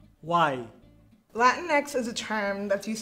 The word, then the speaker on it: Latinx: As a group, we all need to decide what term we use, Latinos, Latinas, Latinx. It's pronounced Latinx. Why? Latinx is a term that's used to be inclusive of everybody.